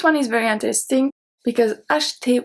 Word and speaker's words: acheter: This one is very interesting because acheter, we don't pronounce the E in the middle.